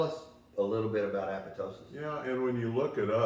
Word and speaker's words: apoptosis: Guys, we want to talk about something today that's extremely important, and that is apoptosis. You know, that's supposedly the proper way to say that.